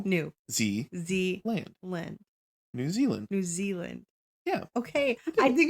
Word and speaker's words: Zealand: New Zealand. Yeah. Okay. I think because I know it's spelled ZEA and I want to like pronounce it Zia. It's New Zealand.